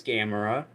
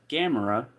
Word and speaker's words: Gamera: Hey Unraveled, if you're watching this, this is Gameamra and that's Gamora. So now you know how to say it. And that way you don't confuse the two.